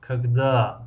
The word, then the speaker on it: когда: مثلا завтра ударение در هجای یکم است، когда ударение در هجای دوم است و مثل همین ударение رو بمونه.